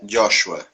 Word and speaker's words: Joshua: Ó, meu nome se pronuncia Joshua, tá?